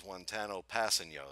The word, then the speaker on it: Kpassagnon: choice and that is wano passeno is that correct did I pronounce his name correctly for or is it different no that's correct that's AB that's perfect actually okay good well that's